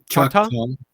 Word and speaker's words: Choctaw: Choctaw, Choctaw, Choctaw. but Choctaw. that's a English pronunciation of our real name, which is Chata.